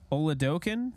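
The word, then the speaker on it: Oladokun: you happen to see Chris Dokken oladocan that's how you say it Chris holidoken drive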